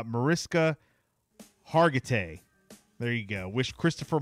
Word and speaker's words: Mariska Hargitay: Mariska Hart. Wow. I never pronounced her name right. Liv. Liv from Law & Order. All right. Mariska Hargitay.